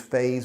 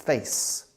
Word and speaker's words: phase: in the implementation phase don't confuse phase with face okay Spanish people have problems pronouncing phase because the Z that sound you don't have in the Spanish language so if you can't